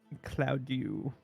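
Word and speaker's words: Claudiu: is I I'm gonna I'm pronouncing it that way because it looks like I do to me uh let's see on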